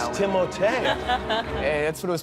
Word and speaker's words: Timothée: Well, honestly, it's Timothée, but I would not oblige you to say it like that. And it could be Timothy or Timmy or Doug. It's Alan. Timothée.